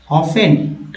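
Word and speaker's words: often: आर, देखिए these are ऑफन यहाँ क्या है, टी जो है, ये जो टी देख रहे हैं ये साइलेंट है, ऑफन इग्नोर्ड हाउएवर इट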